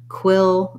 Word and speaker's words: quill: of that diphthong a and then quill is more direct right to the l and quilt is just